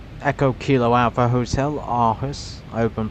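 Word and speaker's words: Aarhus: Alton airport today is also in Denmark something called Echo Kilo Alpha Hotel Arus. I hope I'm pronouncing it spelled A A R H U S and it's just not the northwest of uh Castro airport.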